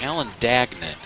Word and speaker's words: Alan Dagan: from our PA announcer it's Alan Dagan is how it's pronounced number 15 and he's